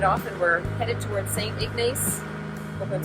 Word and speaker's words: St. Ignace: And so now we've headed off and we're headed towards St. Ignace.